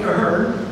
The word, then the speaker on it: Ahern: So Patterson, Mike Ahern, and those K-State faithful out there will be glad I'm pronouncing that correctly.